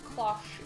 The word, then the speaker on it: cloche: Cloche is the right correct word. Pronunciation.